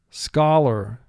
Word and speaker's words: scholar: Scholar, scholar. He is a gentleman and a scholar. Now for spelling, pronounce this word scholar. Ska has 3 sounds. S, k, ah.